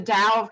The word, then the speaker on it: Tao: You can also get my book, The DOW Comedy, on and DOW is spelled TAO for anyone who doesn't know.